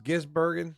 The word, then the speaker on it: Gisbergen: Uh Van how do you say we always call that is Gizburgen.